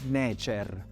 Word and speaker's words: Necer: Poi abbiamo lo stendardo che si legge Necer, cioè Dio, seguito dal bastone che si legge Hem, che vuol dire servitore.